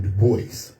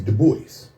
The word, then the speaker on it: Du Bois: She wouldn't call him Du Bois. She called him Dubois.